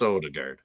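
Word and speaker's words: Ødegaard: how to pronounce it so in norian it's a little bit like a Ard but right but I think J in English it's odard I friends here that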